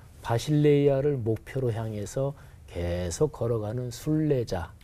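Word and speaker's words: βασιλεία: 헬라어로 발음해 보면 바실레이아 이렇게 발음해요.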